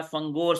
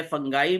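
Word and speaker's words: fungi: है, कि वैसे तो इसकी प्रोनाउंसिएशन जो है ना वो फंगी भी है, फंगाई भी है, और हम यहाँ पर मोस्टली इसको फंजाई बोलते हैं एनीवेज।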